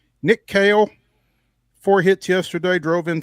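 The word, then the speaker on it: Kahle: a pronunciation on Nick Kale, which is spelled K A H L E. He he hit me back. Kale like like the vegetable, but um could not talk because he was on a flight.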